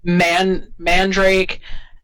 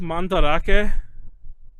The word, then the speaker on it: Mandarake: There are now guides on how to buy things from Mandrake and Yahoo Auctions. Excuse me, it's pronounced Mandarake.